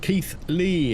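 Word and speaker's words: Keighley: Pronounced Keith Lee.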